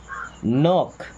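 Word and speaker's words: knock: नॉक, देखिए यहाँ पे के साइलेंट है, क्या पढ़ते हैं, नॉक।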